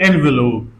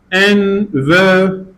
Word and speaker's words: envelope: sound is for example the word envelope envelope envelope see again three syllables envelope the second syllable has schw sound but there is no stress however the previous syllable has stress the first syllable so we can alide this sound and instead of envelope we can pronounce envelope envelope in spoken English Okay